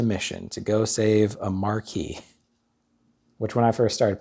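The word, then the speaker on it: marquis: a marquee was and i probably pronounced it marquez just because i was like yeah i don't know probably pronounce the q why not okay i didn't really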